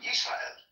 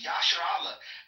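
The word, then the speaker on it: ישראל: name of the nation of Israel as Israel, Yisrael. They're capturing it in the Greek that way. Yisrael captures the pronunciation, Israel captures the pronunciation Yisrael. Now, if the name of the nation was Yasher Allah, I can right now type out Yasher Allah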